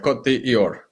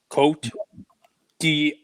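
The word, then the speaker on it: Côte d'Ivoire: Cote d'Ivoire. It's Ivory Coast. I'm not even going to try. Cote d'Ivoire. Cote d'Ivoire. And it's DVR, like a TiVo? DVR. Yep. Cote d'Ivoire. Coat your DVR.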